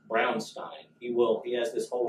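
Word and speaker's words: Braunstein: war game called brown Stein and it is pronounced brown Stein he will yes this whole spiel he does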